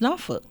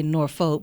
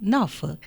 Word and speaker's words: Norfolk: the world, and it's Norfolk. That's how you say it. If you look at it and read it, you might say Norfolk, but it's Norfolk.